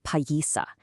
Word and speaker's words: Páyiihsaki: The word Piasa is just a settler's mispronunciation of the Illiniwek word Páyiihsaki.